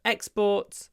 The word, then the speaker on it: exports: So exports and imports. In both cases, we stress both syllables. Stress all the syllables. Exports and imports.